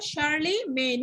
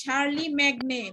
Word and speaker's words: Charlemagne: Charlemagne উচ্চারণটা কি হবে বলো? Charlemagne। এটা আবার বইলো না যে শার্লি ম্যাগনে, বইলো না কিন্তু।